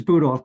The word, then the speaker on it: Budoff: up is from bob budoff sorry if i'm pronouncing your name wrong that's okay it's boot off but that's fine good